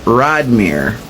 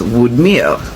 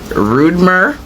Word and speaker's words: Rodmyr: Anywho, it's spelled Rodmyr, and it is said in English Rodmere, and in Creole it is Woodmere.